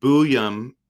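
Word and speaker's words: Buium: Again, Booyum is how you say it.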